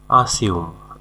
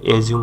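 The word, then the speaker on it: assume: এপ্রিহেন্ড মানে বুঝতে পারা আসিউম আসিউম মানে হচ্ছে ধরে নেওয়া বা অনুমান করা অনেকে এটাকে এজিউম বলে এজিউম হবে না আসিউম ধরে নেওয়া বা অনুমান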